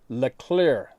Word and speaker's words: Le Clerc: northeast washington state called le clerc creek pronounced le clear le clear creek this is an extremely